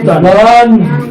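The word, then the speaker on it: هُدًى: একটা কথা বলে নিই, যেই হরফের মধ্যে কোনো জের জবর পেশ বা কোনো কিছুই নাই সেই হরফটা উচ্চারণ হবে না, উচ্চারণ হবে না, ঠিক আছে? তাহলে এটার উচ্চারণ কি হবে? সবাই একসাথে বলেন। হুদান হুদান হুদান হুদান।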